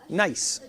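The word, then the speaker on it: gneiss: to use that so this is called nice now it's a German word and it's spelled g NE I SS nice now it looks pretty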